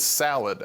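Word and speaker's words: Thallid: sporn crown salad uh which I believe is salad actually is how it's pronounced the spor crown salad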